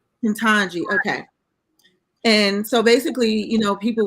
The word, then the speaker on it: Ketanji: How do you pronounce her name? Ketanji.